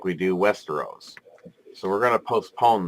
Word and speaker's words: Westeros: see a large landmass and I believe it's pronounced Hester O's which is to the west known as Westeros that is correct the larger continent though has